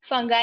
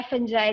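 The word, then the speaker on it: Fungi: Second kingdom Protista, third kingdom फंगाई, फंगाई या फंजाई जैसे भी आप प्रोनाउंस करते हैं, फंगाई is also known as mycota, okay.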